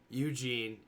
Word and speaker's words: Ugin: that I have my Ugins. Eugene, yes, Eugene. So that is how the planeswalker is pronounced and spelled, correct?